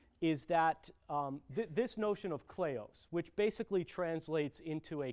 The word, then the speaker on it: kleos: that comes out of the ancient Greek called kleos, which is spelled K-L-E-O-S, kleos.